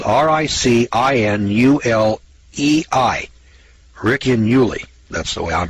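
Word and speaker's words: Ricinulei: It's called the Riccinuli. It's spelled R-I-C-I-N-U-L-E-I. Riccinuli.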